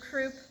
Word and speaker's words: croup: a funny joke here croup rhymes with poop that's how you can